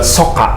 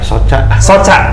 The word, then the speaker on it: Soca: Bacanya Soka ya? Soca. Dari mata. Oh, dari Sunda, mata. ya. Oh, mata bahasa Sundanya Soca. Soca. Oh. Cuman udah banyak yang pakai Soca jadi tambahin C aja. Double C.